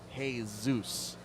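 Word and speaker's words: Jesús: name was jesus because they pronounced it hey zeus i was like who's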